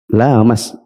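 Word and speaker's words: لامس: Dan yang benar bacanya apa? Lamas, sehingga panjang.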